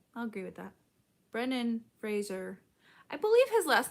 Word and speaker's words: Fraser: agree with that brennan fraser i believe his last name is pronounced fraser and not frasier i feel like i've